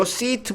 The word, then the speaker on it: seat: 모음이 하나일 때는 짧게 발음하는 거야. sit, sit, sit. 모음이 이렇게 두 개일 때는 좀 길게. seat, seat. 요 두 개는 발음이 같은 게 아닙니다. 발음이 달라.